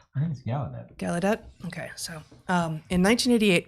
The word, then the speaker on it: Gallaudet: 1988 campus protests at is it gaiadet or gallaudet gallaudet okay so um in